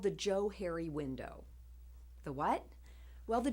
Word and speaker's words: Johari: in 1969 that the Joe Harry window is pronounced as if it were Joe and Harry which is where the